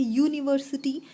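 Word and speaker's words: university: उच्चारण क्योंकि इसका य से होता है यूनिवर्सिटी, इसलिए इसके पहले ए आर्टिकल का यूज होता है।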